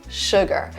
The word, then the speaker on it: sugar: a lot of cases, Americans would not round their lips to say ooh. So sugar is not sugar, it's sugar. So it's kind of, you do the same thing with your throat. You kind of say ooh, ooh, ooh. But your lips are like kind of smiling, sugar, sugar. They don't move, they're right there, sugar.